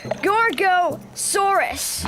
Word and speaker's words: Gorgosaurus: I'm a Gorgosaurus. That's Gorgosaurus.